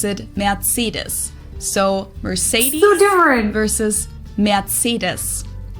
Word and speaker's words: Mercedes: in Germany um so most Americans call this Mercedes in German we pronounce it mates so Mercedes versus merus matus so it's really pretty different and the full